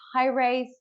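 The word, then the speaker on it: Haraeth: Facebook you can find us on Facebook it's high rate h a r a e t h our bad name is quite difficult to pronounce from time to time um yeah so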